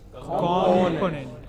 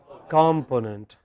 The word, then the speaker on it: component: Component. Yes, but many people, many of us in India pronounce it as component, which is not correct.